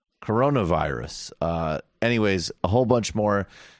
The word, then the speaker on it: coronavirus: censors to cover the carnivorous outbreak in a really effective way. The what? I don't know how to pronounce it. Coronavirus. Corona? Yeah. Really? Yeah, not carnivorous.